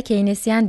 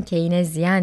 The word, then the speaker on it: Keynesyen: Evet yine Keyinezyen dedim. İlk telaffuz hatamı yapmış oldum böylece. Evet, Keynesyen olacak doğrusu.